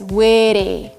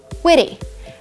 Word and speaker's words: witty: In American, we replace T with an R. And the way we say it is witty. Witty.